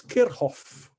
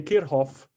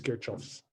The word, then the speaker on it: Kirchhoff: way um trivialento para say no um antalagan pronunciation on kirchoff uh i looked it up somewhere it's kerhoff no um it's just that i feel strange having to say kirhof so i'm going to pronounce it the way